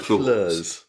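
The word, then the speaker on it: Floors: should spell yes it's spelled flaws but it's like flurs uh anyway there they were there he was at uh flurs and he was not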